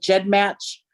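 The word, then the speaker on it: GEDmatch: called i always say i'm probably saying that wrong but jed match uh is that how you pronounce it yes yes so i uploaded there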